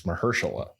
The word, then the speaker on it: Mahershala: It's Mahershala.